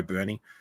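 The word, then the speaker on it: Burney: Um he told me it's Bernie because he watches a lot of Florida games. And when I watched the old Florida games, I listening to the commentator pronounced it Bernie. So, I'm going to go with that.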